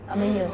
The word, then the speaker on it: amanhã: Amanhã. So and we say amanhã. It's very nasal.